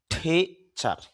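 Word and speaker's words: teacher: তো এখানে টি যেহেতু আসছে শুরুতে এজন্য ট না হয়ে ঠ হবে। তাহলে উচ্চারণটা হবে ঠিচার।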